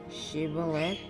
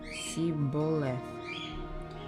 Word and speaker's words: Shibboleth: If he answered no, they told him, please say Shibboleth. If he said Siboleth, because he could not pronounce it correctly, they seized him and executed him at the fords of the Jordan.